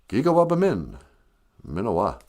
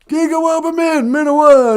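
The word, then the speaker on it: Gigawabamin minawa: You say, Gigawabamin, Minawa. All right, then. Gigawabamin, Minawa, Nanaboozhoo.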